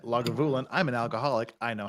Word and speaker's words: Lagavulin: bad I'm Scottish English lagavulin rhymes with I'll have you win emphasis on the gav or gov syllable and you as in the word you as I said lagavulin I'm an alcoholic I